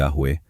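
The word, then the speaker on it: Yahweh: Ang isa sa mga dahilan kung bakit maraming naniniwala na ang tamang pagbigkas ay Yahwe ay dahil sa mga sinaunang tekstong griego na nagsasaad ng Ioahuwe na maaaring representasyon ng pagbigkas ng Yahwe.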